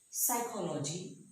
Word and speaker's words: psychology: So P is silent at the beginning of a word before S. For example, psychology. Here the P is silent and S is after P.